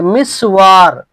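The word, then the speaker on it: مسور: যেমন ধরেন যে মিসওয়ার, মিসওয়ার মিমের কাসরার সাথে আর সিনের উপরে সুকুন আর ওয়াও এর উপরে ফাতা, মিসওয়ার।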